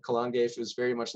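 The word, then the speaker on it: Calan Gaeaf: in that area alrighty here's another pronunciation i'm definitely gonna butcher um so we're going to talk about uh colon gaif as the pronunciation we'll give and i just realized i misspelled that right there excuse me for that um um how it's spelled out another pagan festival um which is called kalangef is very much like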